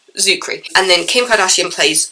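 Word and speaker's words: Czuchry: I recently found out how to pronounce his name. Just ignore the C and just go from the Z. Zuckery.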